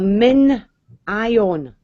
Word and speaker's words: MinION: But anyway, it's called a min-ion. But spell that out.